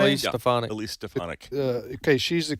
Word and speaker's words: Stefanik: Is that the way you pronounce her name? Elise Stefanik.